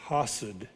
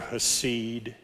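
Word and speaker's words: חסד: word agape is translating a hebrew word hassad or haseed or some other way that it's probably pronounced h-e-s-e-d hessed could be let's say hesed this time acid means to cut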